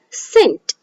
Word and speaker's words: scent: So we are going to pronounce it as scientist. And one more example, scent.